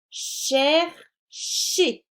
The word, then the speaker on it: chercher: Alors attention, ici le ER, il est au milieu du mot. Il ne va pas se prononcer et. Chercher.